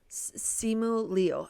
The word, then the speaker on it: Simu Liu: no idea about, I don't know how to pronounce his name. Simu Liu. Simu Liu.